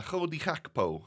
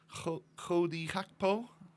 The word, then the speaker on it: Cody Gakpo: Oh dear, we get a Chodi Hakpo, as I've heard some commentators call him. Is that how you pronounce it, my Dutchies? Chodi Hakpo? It seems a bit weird. I would say Cody Gakpo.